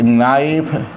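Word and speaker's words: knife: नाइफ है, चाकू, तो एक नाइफ, यहाँ के साइलेंट है, नाइफ KNI, FI को हटाकर VES।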